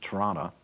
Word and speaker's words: Toronto: here in t in Toronto good no second T that's important don't pronounce it wrong um approached me about